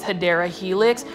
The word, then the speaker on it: Hedera helix: common plant, check this Hydra Helix. This one is for $6.99 in a 4-inch planter. I love English ivy, or the correct way to say is Hedera Helix. I just like saying Hydra Helix, because you plant foldies